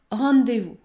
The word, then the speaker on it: rendez-vous: ne faut pas dire rendez vous rendez vous lorsque vous avez les lettres e n devant une console il ne faut pas prononcer le N il faut uniquement prononcer la voyelle nasale en comme dans le mot